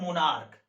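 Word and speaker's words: monarch: कारण ये है कि अगर किसी सिंगुलर नाउन के अंत में CH है, अगर उसका उच्चारण क हो, इस CH का उच्चारण का च ना होकर क हो, तो अगर क उच्चारण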